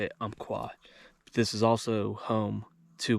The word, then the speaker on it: Umpqua: That's how you say it, Umpqua.